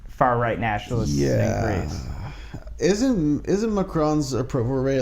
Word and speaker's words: Macron: and saying like, I have to correct you, Macron. Macron. Yeah. Not Macron. Oh, Macron. Ghost pronounces it Macron.